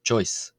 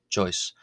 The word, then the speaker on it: ϭⲟⲓⲥ: Uh however it's pronounced uh this word is pronounced on its own without the article as choice choice.